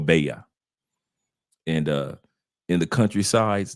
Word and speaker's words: Valle: state our state is is spelled v a l l e it looks like it's spelled Valley but it's actually beo or baa and uh in the